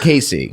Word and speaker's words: Kacey: stuff you can follow me my name is casey but it's spelled k-a-c-e-y musgrave style yes musgrave style so